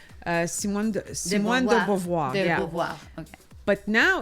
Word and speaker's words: Beauvoir: But to Never actually know how to have pronounce her name. Simone de Beauvoir. De Yeah. Beauvoir.